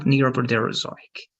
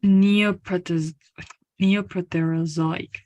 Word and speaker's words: Neoproterozoic: Neoproterozoic. So it's good. Okay, Neoprotero. And in this case, this is only going to be like A. Okay, Proterozoic.